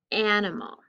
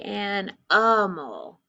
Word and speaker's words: animal: Some people say an-a-mal, so it's I, animal, or I, depending on how you pronounce the word.